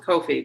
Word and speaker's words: Ko-fi: ca we have a kofi or kofi however you want to pronounce that um i go with kofi because coffee that's what i do